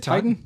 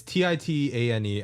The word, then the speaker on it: Titane: Is it Titan? It's Titane. I apologize. I probably should have researched on how to pronounce it before.